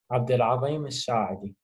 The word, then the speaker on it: Abdul Al-saedi: everyone, Cream right here, and today we are here with Abdul Al-saedi. Did I say that correctly? Kind of. It's all good. Can you pronounce it properly for us? Abdul Al-saedi.